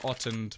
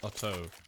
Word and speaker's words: Otto: Not Ottend, but Otto. Why can't he? Just write your damn names down. Everybody should spell their name phonetically from now on. Make things easier for me. I'm just gonna keep calling him Otto because that's how it's written, so that's how I'll read it.